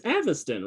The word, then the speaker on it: Aviston: on how this goes he still hasn't pronounced it correctly it's aviston right yeah okay every time i